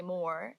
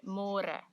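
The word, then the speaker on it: môre: to read more because in English it's spelled like more so don't say more say more and the older generations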